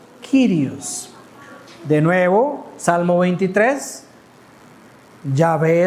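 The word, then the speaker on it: κύριος: Ellos saben que se está hablando del Dios de Éxodo 3, pero ahora se pronuncia en el griego kirios.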